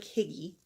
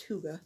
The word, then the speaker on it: hygge: of red hurt hygge even though it looks like Higgy it's pronounced hygge actually have a little